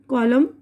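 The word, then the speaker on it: column: कॉलम कॉलम, डैम बद्दुआ करना, ठीक है। अब यहाँ पर देखिए डब्लू की आवाज़ साइलेंट है।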